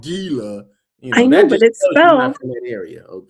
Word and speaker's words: Gila: Fantastic service for the Gila River Resort.